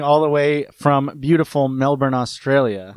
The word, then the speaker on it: Melbourne: Michael is recording all the way from beautiful Melbourne, Australia. Melbourne. Where it is Melbourne. Sorry, I pronounce the R.